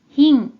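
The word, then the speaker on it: 賓: 귀빈 빈이라는 자가 됩니다 이 한자는 뜻으로는 발음이 없고 음으로만 힝 힝이라고 발음해줘요 그럼 먼저 환자 관련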